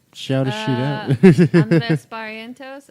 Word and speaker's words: Barrientos: Andres Barrientos. It's Barrientos, but Barrientos, if you're looking to spell it phonetically.